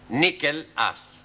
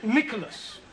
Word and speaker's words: Nicholas: upon a times there was a man called nickel ass it's not quite right no no once upon a time there was a woman called Nicholas it's pronounced Nicholas all right once upon a time there was